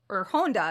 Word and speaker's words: Honda: And both were directed by Ishiro Honda, excuse me.